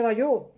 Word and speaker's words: Bayeux: Se escribe Bayeux, pero en francés seguro que se dice Bayeux.